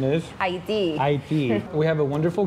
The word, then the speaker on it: Haiti: The flag of Haiti, or the correct pronunciation is? Haiti.